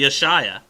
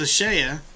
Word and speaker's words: Ashaya: do you pronounce them rhymes with playa spanish for beats oh so it must be ashaya i sure thought it was ashaya i i did too